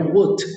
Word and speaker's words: would: Where would, la L se escribe pero es completamente muda.